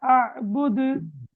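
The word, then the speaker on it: أعبد: அபுது அபுதுன் அதேபோல திருப்பா அபுது என்று வருது அப்ப இந்த இடங்கள்ல கல்கலா செய்ற மாதிரி ஓதப்படாது அபுது சரியாது அதேபோல வலாது ஏன்னா நாங்க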